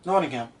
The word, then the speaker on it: Nottingham: And then they go to, I hope I say this right, Nottingham? Nottingham.